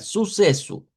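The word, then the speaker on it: sucesso: Podemos hacerlas todas con S, nada más que aquí estaría como la sílaba tónica, suceso, en la SE, como con más fuerza.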